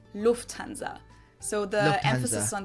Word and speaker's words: Lufthansa: In English, people usually say Lufthansa, but in Lufthansa. Wait, second largest airline company in Europe? Bro, what, do I not fly either? I don't even know this brand. German, we say Lufthansa.